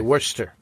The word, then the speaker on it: Worcester: No, but Worcester in England is a place. Yeah. Which is spelt Worcester. Right. But we say Worcester.